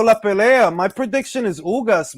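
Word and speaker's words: Ugás: My prediction is Ugas, B. Pero vamos a ver lo que pasa. Yo, bro, that's not how you say it. It's Ugas. It's Ugas. It's Uggs.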